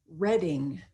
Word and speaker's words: Reading: a book is pronounced the same word spelled the same way is pronounced very differently if it is the city in england which is pronounced reading so reading reading same word same spelling different pronunciation depending on context some of these examples